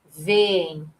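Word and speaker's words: veem: A palavra vem, vem. Olha só, os dois ezinhos vão ficar separados em sílabas diferentes.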